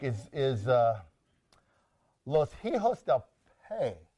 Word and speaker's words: País: which I really like, is Los Hijos del País. How do you say that? País.